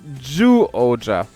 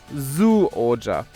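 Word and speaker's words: Zyuohger: but it is pronounced ju oja not zu oja the z-y-u in japanese is pronounced ju but what about the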